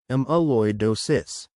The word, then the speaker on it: amyloidosis: Amalloidosis is one type of the rare disorder amaloidosis pronounced amaloidosis.